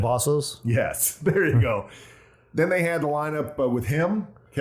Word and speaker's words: Cavazos: Carlos I always mispronounce Carlos' last name. Cavazos?